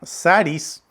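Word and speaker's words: χάρις: Viene de una palabra griega que se pronuncia charis y significa algo bueno recibido sin merecerlo.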